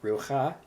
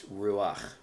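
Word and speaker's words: רוח: So that's why in this word it's not rucha, it's ruach.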